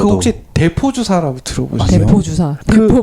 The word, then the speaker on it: depot: 그 대포 주사라는 게 그러니까 한 번에 막 확 집어넣어서 몇 달 가게 만들어 놓은 그런 주사인데 대포가 영어예요, 영어. 아 그래요? 네. 예, 대포 DEPOT T는 묵음.